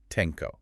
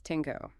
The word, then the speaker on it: Tenko: his title explicitly as Tenko. Yes, Tenko. But when we refer to the later monarch on the Japanese archipelago who adopted those exact same characters centuries later, we will pronounce it as Tenno.